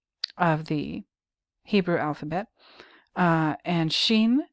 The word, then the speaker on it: shin: the 21st letter of the Hebrew alphabet and Sheen spelled s-h-i-n uh what does it mean it